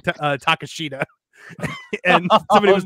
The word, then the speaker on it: Takeshita: Also, I hope Swerve versus Takeshita, because apparently that is how you say that word, I've been told. Tomorrow isn't a spot fest. In the headlock headlines, I said Takeshita, and somebody was like, "Are you doing that on purpose?"